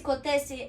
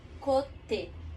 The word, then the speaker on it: côté: E esse côté, ele é C, O, com aquele acentinho do chapeuzinho, co, T, de tatu, e o E com aquele acento agudo, sim? De côté.